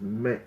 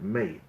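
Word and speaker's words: מת: A dead person is met, mace, if you use the Ashkenazi pronunciation.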